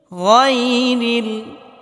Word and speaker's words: غير: গায়রিল, এখানে আমরা গায়রিল পড়ি অনেকেই, গায়রিল পড়া যাবে না, গায়রিল, গয়ন মোটা করে উচ্চারণ করতে হবে।